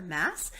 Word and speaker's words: Maas: This follows a character named Oedipa Maas, M-A-A-S, I think is how you say it. Maas or Mass is how you say her name.